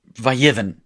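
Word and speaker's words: ויבן: You chop off that last syllable, and you get vayivn, but it wants to be like all the other kids, and so it vayiven. See, it's still a monosyllable, but it's two syllables.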